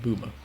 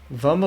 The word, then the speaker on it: Vummer: Is it Boomer or Vummer? Because Blobber pronounces it Vummer, and Jake pronounces it Boomer. So I wanted to know which one it was. Vummer like in summer.